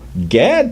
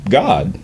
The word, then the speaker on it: Gad: So you would get a pronunciation of what we call Gad today would actually have been pronounced God, because it would have been ah.